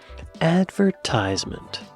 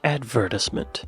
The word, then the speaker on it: advertisement: Advertisement or advertisement. Right. Right. Stress placement might be the culprit. Brits tend to pronounce this advertisement while Americans insist on advertisement.